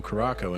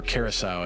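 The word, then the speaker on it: Curaçao: another shot of Blue Caraco in it, so it's even more alcoholic. Or Curacao, I guess is how it's pronounced.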